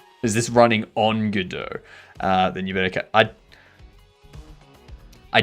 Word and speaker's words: Godot: I pronounce it Godot. Good to hear, iHeart. Good to hear. But that's how you say it in a French accent. A lot of words are totally different in an American accent from French. Words, yes.